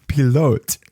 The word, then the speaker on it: pilote: I said, it's a French word. And it's pronounced pilote.